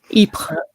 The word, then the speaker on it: Ypres: I remember as a teenager going to a museum in, how do you pronounce that? Ypres.